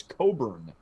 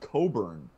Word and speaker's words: Cockburn: my family or whatever but i'm going to say it's actually pronounced coburn i think he could